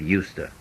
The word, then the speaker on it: used to: a listen and practice notice the pronunciation of USTA when I was a